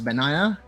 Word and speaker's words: banana: Again, for the Baron lane of Pikachu, it's pronounced as banana, as in like a fruit banana.